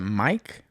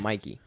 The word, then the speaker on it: Mikey: Is it Mikey? Smiley. Yeah, but like how do you say his first name? Is it Mike? I call him Mikey. Mikey. If you're going to call him his first name, it's Mikey.